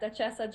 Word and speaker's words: Duchessa: And did I pronounce the name of your gelato company correctly? Is it Duchessa? Correct, Duchessa Gelato.